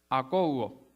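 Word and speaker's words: ἀκούω: Akougo, con acento en la O, está difícil de pronunciar.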